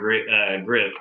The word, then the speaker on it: Gripp: Yeah, and then we have Howard Gripp, and I'm pronouncing that right? Gripp.